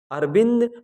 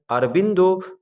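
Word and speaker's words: Aurobindo: बांग्ला भाषा में हम इनके नाम को अरविंदो प्रोनाउंसिएट करते हैं, इसलिए ही हम हिंदी भाषी इनको अरविंद घोष कहते हैं, जबकि बांग्ला भाषा में इन्हें अरविंदो घोष कहा जाता है।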